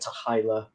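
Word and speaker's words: t'hy'la: the motion picture um with the pronunciation is debated but something like tahila um and it means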